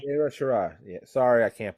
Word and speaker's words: Io Shirai: I watched the Tony Storm match versus Io Shiri. Shiri? Is that how you pronounce it? Oh, Io Shirai. Io Shirai.